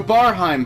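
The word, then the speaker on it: Barheim: I believe in you it's the bar hime passage that's how you say it so these in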